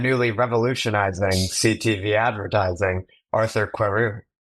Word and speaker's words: Querou: If you want the pronunciation like perfect, it would be Querou.